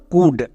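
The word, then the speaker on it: could: হসুকার সাউন্ড দেবে next আমরা জানি এল এর পরে ডি থাকলে এল সাইলেন্ট সো এখানে এল এর উচ্চারণ হবে না কারণ এখানে এল সাইলেন্ট তাহলে এর উচ্চারণ কি দাড়ালো কুড একে আমরা কেউ কাউড বা ক্লাউড এরকম উচ্চারণ করবো না।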